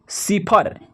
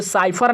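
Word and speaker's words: cipher: सी वाई पी एच ई आर, सिफर। सिफर पढ़ेंगे, इसे साइफर नहीं, साइफर नहीं, गलत हो जाएगा, साइफर गलत हो जाएगा, क्योंकि यहाँ पे स का उच्चारण है, तो इसको पढ़ेंगे सिफर।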